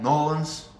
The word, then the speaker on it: New Orleans: country Kelly is from New Orleans New Orleans is one syllable Nolan's Jill from Denver Kim